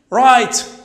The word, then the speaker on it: right: Right. Right. حق. Right. وين هل منطقناش هنا؟ G and H. خيال بالكم دائما كي تكون G H و T. G H قبل T. G H لا تنطق.